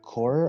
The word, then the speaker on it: corps: this this like forest core or something like that. So remember how English has that weird word corps, but they just pronounce it core.